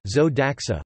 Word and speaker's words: Zo d'Axa: Alphonse Galad de la Perouse, 28 May 1864, Paris 30 August 1930, better known as Zoe Daxa, French pronunciation, Zoe Daxa, was an adventurer, anti-militarist, satirist, journalist, and founder of two of the most legendary French magazines, Landhors and La Foy.